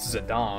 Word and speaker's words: Zidane: just like when I found out it was pronounced zidane and I was like are you [ __